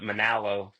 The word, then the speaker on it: Monallo: So there's a little debate on how it's pronounced, but uh it over the years kind of got rounded off to kind of rhyme with mahalo.